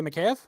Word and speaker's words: Mikheyev: Ilya Mikheyev.